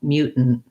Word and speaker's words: mutant: And then your word mutant. Again, here's our same combination, stop T, syllabic N, stop T. And then the mu is the first stress syllable. I just have my glide and my mutant. And yeah, I don't say those T's.